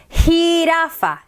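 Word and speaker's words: jirafa: i in spanish j now that's going to be funny because it's going to sound like your h hota hirafa giraffe hota hirafa giraffe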